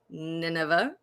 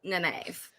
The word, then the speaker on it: naive: long time many years many years sarah did pronounce naive nineveh which is fair um i am far from